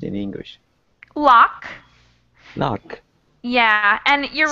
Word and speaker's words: loch: And how does this does it pronounced in English? Loch.